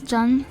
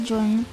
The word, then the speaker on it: ZUN: Maybe it is Jun. I thought it was Zun, but maybe I've been saying his name wrong. It is Zun.